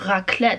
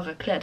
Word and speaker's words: raclette: 这个是一个叫做 raclette，我不知道发音对不